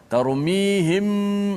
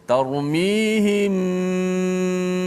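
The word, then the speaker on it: ترميهم: Dan pastikan bibir kita sentuh, bersentuhan. Jangan terlalu rapat sehingga macam bunyi kemam, kan? Tarmihim, jangan begitu. Biasa saja. Tarmihim bihijarah.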